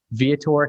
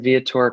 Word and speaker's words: Viator: Viator Café. Is that right? That's right. Yep. Viator Café.